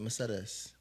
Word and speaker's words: Mercedes: Yeah, I like to say it in Spanish so people don't think I was named after the car.